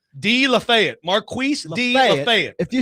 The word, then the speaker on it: Lafayette: If you say de Lafayette. Marquis de Lafayette. If you say Lafayette, it's it's cut and dried. You're mispronouncing.